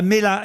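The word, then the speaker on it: Melha: Ah, Mela. M-E-L-H-A. C'est comme une pêche melba sans le B, quoi. Voilà, et avec un H aspiré.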